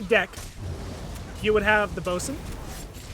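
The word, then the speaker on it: boatswain: you would have the bosun spelled like a boat swain for some odd reason not sure how that works but anyways so you'd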